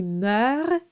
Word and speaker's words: meurt: And it's just to signal to you that those letters, those consonants are silent. It's not meurt or perds. Those are silent. So, s'il y meurt, you pronounce the R, but not the extra consonants.